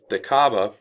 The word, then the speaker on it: Kaaba: And this is the Kaaba, as it's pronounced there, K-A'-A-B-A, is still what pilgrims go to see when they go on their Hajj to Mecca.